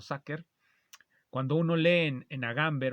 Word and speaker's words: sacer: se escribe homo sacer yo lo pronunció como lo veo escrito mosase pero creo que se pronuncia homo saker cuando uno Lee en